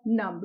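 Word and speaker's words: numb: यहाँ पे देखिए नम्ब, यहाँ पे आप बी साइलेंट है, यहाँ पे बी, आप बी को प्रोनाउंस नहीं करेंगे, इसे आप पढ़ेंगे नम। ठीक है, यहाँ पे बी साइलेंट है तो इसे आप प्रोनाउंस करेंगे नम।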